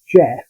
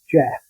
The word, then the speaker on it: Gef: introduced itself it said its name was Jeff which is spelled g-e-l Jeff and that it was